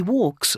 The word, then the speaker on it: walks: He walks lots of dogs in the parks in London. He Walk. walks. Yeah, correct. Walks. Remember, no pronunciation on L.